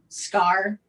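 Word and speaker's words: Skaar: no hulk son scar it's pronounced as k-a-a-r it's got r i was gonna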